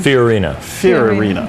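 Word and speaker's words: Fiorina: say your last name Fen ferina okay yeah it's kind of like Ferrari okay but not quite all right well I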